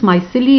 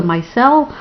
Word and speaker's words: micelle: So I've heard different pronunciations, myceli or micelle, whichever one you like.